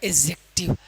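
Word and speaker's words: adjective: क्योंकि यहां पर जे से डी जुड़ा है तो डी को नहीं पढ़ेंगे तो हो जाएगा एडजेक्टिव।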